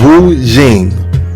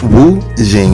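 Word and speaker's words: Wu Xing: principle or a Chinese philosophy called wo Jing right Wu Jing it is spelled Wu x i n G wuin right now it is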